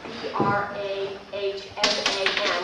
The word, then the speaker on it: Brahman: you're aware now as B R A H M A N. And the actual Sanskrit way to pronounce this is Brahman.